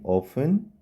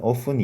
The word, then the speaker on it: often: 자, I often 자, 이거는 often이라고 발음하셔도 되고 often이라고 발음하셔도 돼요.